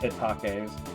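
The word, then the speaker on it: Hetake: kid I definitely didn't know that they were pronounced hitake surprised the localizers didn't try to give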